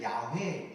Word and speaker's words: 야훼: 여러분, 옛날에 성경을 기록할 때요, 여호와, 원래는 야훼, 이게 정확한 발음이에요.